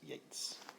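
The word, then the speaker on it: Yeats: inish free by William Butler Yates spelled Yates pronounced Yates Irish poet and he's writing about an island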